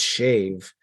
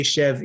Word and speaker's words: shev: give Mike credit because technically it is shave but no one says it the right way so yeah Mike is the only Jewish person to pronounce the word right yeah they say shev usually so The Vow